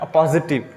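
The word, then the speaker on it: appositive: जिस तरह अपोस्ट्रोफी हम पढ़ते हैं ना, अपोस्ट्रोफी, इसी तरह का जो है ना, इसकी प्रोनाउंसिएशन है अपोजिटिव, ठीक है ना।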